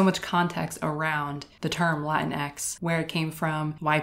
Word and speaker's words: Latinx: as you can hear i choose to pronounce it latinx because the first time i saw it that's how i pronounced it in my head and it sounded like some kind of new latino superhero latinx and that's just how i've always chosen to pronounce it i don't